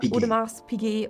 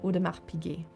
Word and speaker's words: Audemars Piguet: In Udmar Pig the S is silent. So not Udmar Pig or Udmar's PK but simply Udmar Pig.